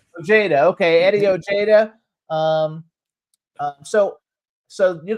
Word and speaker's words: Ojeda: Is that how you pronounce his last name? Oh, Jada. Ojeda.